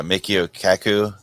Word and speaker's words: Michio Kaku: with uh uh what is how do you pronounce his name uh Michio Kaku it's this dude yeah this guy's a he's